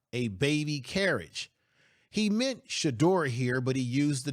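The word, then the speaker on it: Shedeur: First of all, you got the name wrong. You meant to say Shador, not Shallow.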